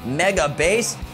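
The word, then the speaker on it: Megabass: and text pioneer lovah megabase it pronounced mega base not base pioneer lover have you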